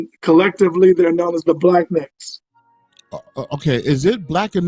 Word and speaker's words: Blaqenex: So collectively, they're known as the Black Necks. Okay. Is it Black and Next or Black Next? Because I always get that Black. mixed up. Yeah, Black. So it's spelled differently, BLAQENEX. So Black Necks.